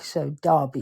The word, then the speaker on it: Derby: or Derby Derby Derby we say d as it's spelled D e r b y but we pronounce it d a r b y so Derby okay okay um I